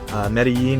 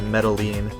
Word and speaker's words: Medellín: wondering Medellin versus Medellin Medellin is how you would say it in Spanish in Medellin they say